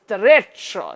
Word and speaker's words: derecho: Apparently it's a Spanish word, it says derecho. Yes, you pronounce it with a Spanish flair or something.